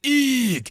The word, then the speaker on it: Hugh: They pronounced it Eeg, and I didn't know until the day before I left France that his name was Hugh.